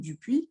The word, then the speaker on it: Dupoux: Oui, désolée, la prononciation c'est Dupuis, c'est un nom landais, hein.